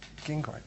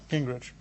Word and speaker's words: Gingrich: Gingrich. Gingrich.